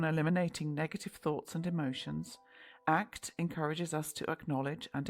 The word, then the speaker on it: ACT: Acceptance and commitment therapy, ACT, pronounced as one word, ACT, has emerged as a